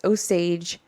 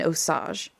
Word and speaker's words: Osage: Soon after the war ended, okay, so I've heard two pronunciations of this. There's Osage and Osage.